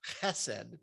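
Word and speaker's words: חסד: So in the Hebrew scriptures, Hesed, and it's actually pronounced chesed, but I'm not going to try that the whole time.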